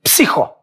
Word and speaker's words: Psiho: Psiho.